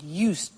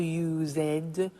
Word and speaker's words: used: listen to the pronunciation I said used with T sound used not use it or use ed used that's very important to